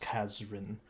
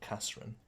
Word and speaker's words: Kazrin: Yeah, Kasrin, but it's pronounced Kazrin instead of Kasrin.